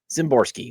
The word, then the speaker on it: Szymborski: All right, so Dan Szymborski. I believe I got the name right. I believe I got the pronunciation right.